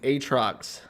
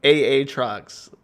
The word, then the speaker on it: Aatrox: the name aatrox because because that's how it's written if they didn't want it to be pronounced aatrox it wouldn't have two a's in it it would just be a or a y instead it's aa trucks and i don't give